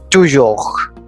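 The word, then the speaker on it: toujours: French word for you to York to York meaning always remember we do not pronounce the last consonant that is s so it is pronounced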